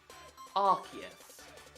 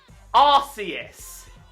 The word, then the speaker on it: Arceus: Because if you pronounce it the way I hope you don't pronounce it, I'm going to scream. This Pokemon is called Arceus. It's been like that from Gen 4 to current. It's not called Arceus.